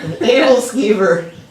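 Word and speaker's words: æbleskiver: Scrambled eggs and sausage links and these little round donuts that I don't know how to pronounce the name of. What do you call them? Edelskiever.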